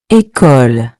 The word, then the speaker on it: École: Now practice the pronunciation with me. Bébé. Bébé. Final example. École.